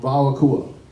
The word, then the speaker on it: WAO AKUA: So we pronounce the WV for this one. It can go either way, but if everybody can say WAO. WAO. And AKUA. AKUA. Nice. How about WAO AKUA?